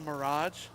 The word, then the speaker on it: mirage: Is this a mirage?